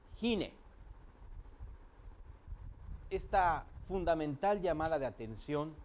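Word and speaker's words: הִנֵּה: Significa precisamente esta misma expresión, he aquí, que en hebreo se pronuncia Hine.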